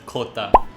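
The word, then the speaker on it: jota: Letter J in Spanish is pronounced as khota.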